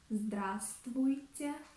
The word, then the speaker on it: здравствуйте: For example, in the word здравствуйте, здравствуйте, we do not pronounce V letter.